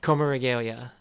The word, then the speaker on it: Coma Regalia: I love como, how do you pronounce it again? Oh, Coma Regalia.